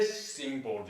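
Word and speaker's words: threshing board: TH 발음. 스. 네. 스싱 보드 이렇게입니다.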